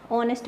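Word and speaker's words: honest: अब ऑनेस्ट मैन एच से शुरू हो रहा है, लेकिन क्या करते हैं अपने इसके आगे एन लगाते हैं। अब ये है तो कॉन्सोनेंट है, बट जब इसका साउंड आता है, जब इसको प्रोनाउंस करते हैं अपने, तो वर्ड अपने एच को नहीं प्रोनाउंस करते, यहाँ से वर्ड शुरू करते हैं ऑनेस्ट से, ओ से।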